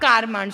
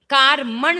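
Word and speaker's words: कार्मण: अब कारमान शरीर, कारमण लिखा होगा देखो, कारमण है ना, कारमान नहीं है, कारमण है, कारमण ही पढ़ना चाहिए। कारमान लिखा, वैसे इसका शुद्ध जो उच्चारण है ना वो कारमण है। कोई बात नहीं, अपन कारमान पढ़ लो क्योंकि यही चढ़ा है सबकी जबान पर, कारमान।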